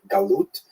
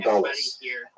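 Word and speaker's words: גלות: In Hebrew, galut, or in a Ashkenazi pronunciation, galus, that Jews were thrown out of their land.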